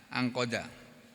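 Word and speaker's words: انقاد: Jadi nanti dibaca ingkoda juga bisa. Ini ada yang bacanya ingkoda, intakoda bukan ingkoda ya, angkoda.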